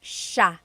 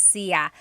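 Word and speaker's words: siya: And another tip uh just about pronunciation, it's sha sha. The s i y combination makes that sha-ha sound. It looks like it should be pronounced sia.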